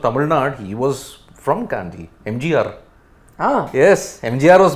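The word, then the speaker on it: Kandy: Asia Cup this pronunciation their people's pronunciation Gandhi okay okay it's not candy it's not the English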